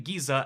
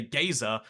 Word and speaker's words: geyser: And it's crazy because I'm not saying Geesir, I'm clearly saying Giza exactly the way you pronounce it. Some people say you've got to say gazer, but like I think that's a little homophobic,